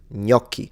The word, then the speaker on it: gnocchi: This is gnocchi. So the GN is like the N with a little wave on top in Spanish. Same sound.